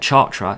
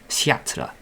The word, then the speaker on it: Chartres: It's not Chartres, it's Chartres, I think.